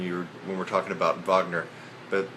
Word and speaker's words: Wagner: anyway um it's not Wagner so you're going to see Wagner when you when we're talking about Vagner but they pronounce it with a V Vagner and not vag vog